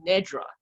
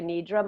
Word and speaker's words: nidra: it's funny about pronunciation I do pronounce it yoga nidra myself and that is predominantly the the pronunciation that I that I hear and that I you know people tend to be using out there it's a translation of